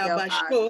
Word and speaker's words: abashó: Muy avergüenzado, el padre se abajó Se del abashó. asno. Abashó. There's an accent there, on purpose, because you should emphasize that syllable.